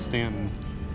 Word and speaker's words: Staunton: So I wasn't sure if it's pronounced Stanton or Staunton. He says it's Stanton, and he has some local ties here.